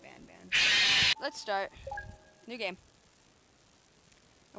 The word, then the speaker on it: Garten of Banban: I actually found out it's pronounced Gartina Bonbon, but I'm gonna keep pronouncing it Ban Ban.